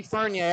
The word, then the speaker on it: Fournier: I think it's Fournier. He's said many times to me that it's Fournier, but I always call him Mikey Fournier.